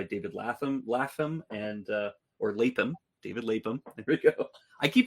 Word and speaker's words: Lapham: David Lapham. There we go. I keep pronouncing it Lapham, but it's Lapham, who we talked about in the last episode.